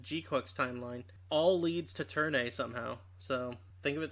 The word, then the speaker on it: Turn A: A, probably turn B. No, it'll be turn a. It'll be turn a and it will literally have the pronunciation for a there.